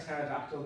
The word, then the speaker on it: pterodactyl: And George has also sent us in a joke, and his joke is, why can you never hear a pterodactyl go to the toilet? I don't know. Because the P is silent.